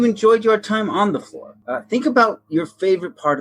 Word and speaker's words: Flore: So it sounds like floor, but it's not the floor you're thinking because it's our floor. We hope you enjoyed your time on the floor.